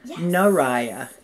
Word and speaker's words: Nariah: name wrong i'm sorry it's mariah with an n naraya naraya okay who